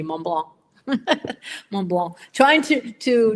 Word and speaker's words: Mont Blanc: So actually, your pronunciation is outstanding when you pronounce minus the C, Mont Blanc.